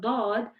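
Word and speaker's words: ض: So for the Dad, I am pronouncing it with the side of my tongue touching my molar teeth.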